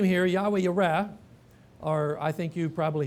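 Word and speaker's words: יהוה יראה: The famous name here, Yahweh Yireh, or I think you probably hear people pronounce it Jehovah Jireh, but Yahweh Yireh means the Lord will see, and therefore He provides.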